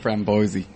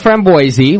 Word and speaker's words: framboise: what's the proper pronunciation so you actually do pronounce the end of the word yeah we do see